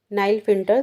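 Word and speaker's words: Klinefelter: 87 क्या कह रहे हैं, which of the following chromosomal anomalies is a commonly found in नाइल फिल्टर syndrome. ठीक है, नाइल फिल्टर बोलते हैं, इसमें के साइलेंट रहता है।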